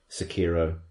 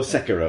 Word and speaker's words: Sekiro: Sekiro. You saw this coming, didn't you? Or Sekiro, as it actually is more correctly pronounced.